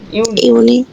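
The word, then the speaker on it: Juni: ইউনিক ইউনিক ইউনিক ইউ এই যে ইউ এর উচ্চারণটা আসবে ইউ তারপর হচ্ছে নি ইউনি ইউনি ওকে তারপর ইউলি ইউলি আগস্ট আগস্ট সেপ্টেম্বর সেপ্টেম্বর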